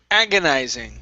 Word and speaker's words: agonizing: Next is agonizing. The stress is at the very beginning.